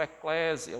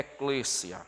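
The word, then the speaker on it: ekklesia: e Clécia né é fazendo uma pronúncia portugueza das pessoas pronunciam Eclésia o Eclésia mas lá no Grego é é Clícia né e a palavra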